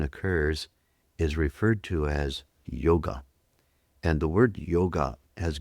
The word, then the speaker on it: yoga: In India, yoga is not pronounced yoga. Some of you will be surprised by this. When you go to India, you'll hear people pronouncing the word yo. Yo, y o g. The a is elided.